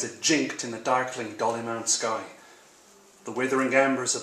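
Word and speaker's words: Dollymount: near, you have to tell me with the pronunciation again. Dolly Mount. Dolly Mount in Dublin.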